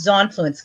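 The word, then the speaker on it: Xonfluence: how to pronounce that it's just zon fluence kind of like Xena good night that that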